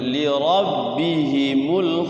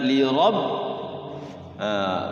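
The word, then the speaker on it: لِرَبِّهِمْ: Terus lilladzina stajabu matabi'i li rabbihimul husna. Li rabb, ro-nya ro apa? Ro tafhim, bukan lira ya, li rabbihim, li rabbihimul.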